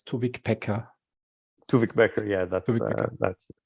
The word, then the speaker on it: Tuvik Beker: two spell your name right to wick pekka two wick backer yeah that's what that's right spelling and right pronunciation thanks christian it's uh really great to